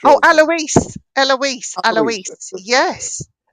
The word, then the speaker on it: Alois: Hickor's brother, and I don't know how to pronounce this, A L O I S. Alisa, I'm not sure. Oh, Eloise.